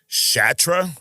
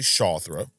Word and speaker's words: Shathra: Because that's how it's spelled. S H A T H R A Shatra. Who the that? It's actually Shawra.